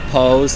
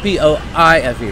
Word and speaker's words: Pose: It's spelled P-O-I-S-E, right? No, it's called P-O-S-E, I believe. I think it's Poise. No, it's not Poise. It's called Pose.